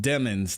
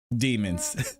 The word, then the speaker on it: Demons: motions until we demons and have yes it's pronounced demons not demons like I said this dude has the worst